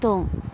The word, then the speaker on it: 硐: So they changed the character to tong, still pronounced dong, but meaning a mine shaft.